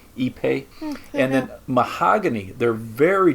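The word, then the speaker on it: ipe: have a hardwood like epe so it's it's spelled I PE but this is like a South American wood so they pronounce it eepe and then mahogany they're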